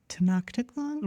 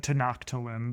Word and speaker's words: Tenochtitlan: Tenochtitlan? Well, we in school, we said Tenochtitlan, but no, I think they say Tenochtitlan because CH in Spanish is not.